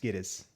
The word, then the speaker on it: Gittes: That's why Jack Nicholson says in the movie, like, it's pronounced Giddies or Giddies.